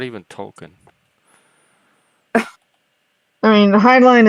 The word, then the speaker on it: Heinlein: I mean, Heinlein is how it's usually pronounced, I think. Heinlein. Yeah, y'all are right. I've been calling it Heinlein. I've been saying his name wrong my whole life.